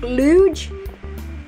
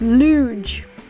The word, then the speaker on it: Luge: Welcome back, Luge. That's how you say my name, by the way, for anybody who's wondering. It's Luge, not Loogie, not Lug, not Luger. It's Luge.